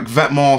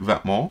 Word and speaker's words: VTMNTS: And I don't know how to pronounce this because it just seems like you pronounce it Vetements.